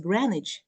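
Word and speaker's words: Greenwich: the word certificate and there nose Green in the word granich and the no there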